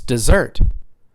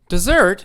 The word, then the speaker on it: dessert: place no rain but how about if i stress the second syllable i tell you what you you try it how do you say it yeah it's dessert dessert hold on that sounds